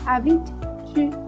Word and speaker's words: habites: Où habit-tu ? Souvenez-vous que on ne prononce pas le E et le S en possession.